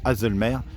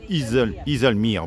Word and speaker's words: Haslemere: Iselmere, j'espère bien prononcer, j'aurais dit Hazelmer, mais c'est Iselmere, voilà. En anglais, voilà.